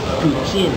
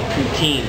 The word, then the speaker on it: poutine: in Downtown Montreal and this is ptin as the quea would say or in English Canada we say poutin but better pronunciation be ptin and basically what we're